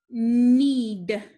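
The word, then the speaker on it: knead: n underline it and cross out the k because it is the ghost letter we also have digraph e a and remember the e is making the sound the a is silent so i make round above the e this word is need need this is something that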